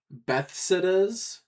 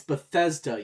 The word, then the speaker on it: Bethesda: Bethas. It's Bethesda, you Betha.